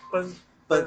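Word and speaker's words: 犇: 知道那个三个牛怎么念，奔，就念奔是吧？对对，就跟奔跑的奔。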